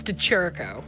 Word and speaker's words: DeChirico: say your last name because i'm going to mispronounce it but oh no it's to cherico nearly deterico yes okay yes just wanted to